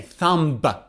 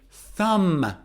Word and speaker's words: thumb: about is b now b is silent in thumb thumb listen up i don't say thumb i say thumb this is my thumb